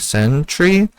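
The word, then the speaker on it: Syntri: There's also, I think they call it Janthier Sentry. I mean, it's like spelled differently than Sentry, but kind of, if I were to sound it out, looks like the word Sentry.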